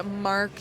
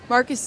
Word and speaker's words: Markus: So this week we read well yeah we read the book thief by Mark Zuzek Zuzac Marcus Marcus oh I completely wrong Marcus Zuzac and um yeah so basically this book